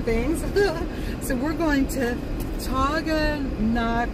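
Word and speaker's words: Taughannock: So we're going to Taganak. Let me see if I said it right, Anne-Marie.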